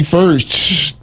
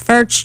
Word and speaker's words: Furch: It rhymes with church. Furch church, but Furch. spelled completely differently.